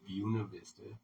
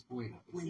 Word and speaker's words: Buena Vista: And it's not called Buena Vista. It's Buena Vista.